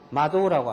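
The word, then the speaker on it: 窓: 마음심자는 고꼬로라고 발음합니다. 창은 마도라고 합니다.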